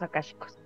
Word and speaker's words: akáshicos: Claro que son los registros Cómo se dice akásicos así es y y arcaicos es otra cosa o es otra forma de decirlo Sí sí es es otra cosa okay el término es registros akásicos los registros akásicos rosa si nos pudieras explicar un poquito De